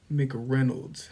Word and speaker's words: McReynolds: me calling so my last name is McDonald's Mick Reynolds how do you spell that m-c-r-e-y-n-o-l-d-s all right give me one second